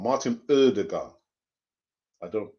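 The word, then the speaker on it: Ødegaard: Martin Odegaard. I don't. It's a silent D, isn't it? I think not O. It's as in turn, turn.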